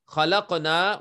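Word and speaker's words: خلقنا: So khalaqna, when you pronounce khalaqna, you have to stretch the sound of noon because there is alif after noon.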